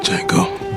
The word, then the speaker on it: Django: Django. D-J-A-N-G-O. The D is silent, hippie.